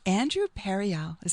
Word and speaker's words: Andrew Pereali: So my dear friend who is with me here today, Andrew Pereali.